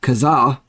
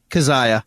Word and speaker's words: Kezia: going to be talking Protest the Hero album kazah is it kazah or kazaya kazaya okay I kept pronouncing it kazah in my head so the